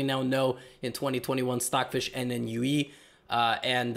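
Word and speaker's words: NNUE: know in 2021 stockfish n and ue uh and it's pronounced like a new or a new or whatever and leela are some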